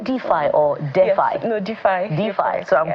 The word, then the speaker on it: DeFi: Sarah Idahosa is the founder of DeFi, Women in DeFi, and she joins us right here in our Lagos studio.